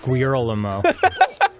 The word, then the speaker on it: Guillermo: First of all, it's pronounced Guillermo.